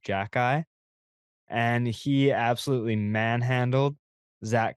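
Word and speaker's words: Xhekaj: x h e k a j and it's pronounced Jackie and he absolutely manhandled Zach Cassian because that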